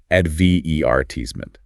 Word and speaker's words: advertisement: It's often about where the main stress falls. Ame tends to stress the third syllable. Advertisement. Berry often puts the main stress on the second syllable and might change the vowel sound slightly.